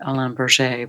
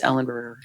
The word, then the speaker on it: Ellenberger: It depends if you pronounce it according to the French Canadian. It's Henri Alain Berger, but otherwise it's Ellenberger.